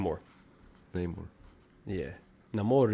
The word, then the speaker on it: Namor: name more Neymar yeah Namor is how they say it I love that character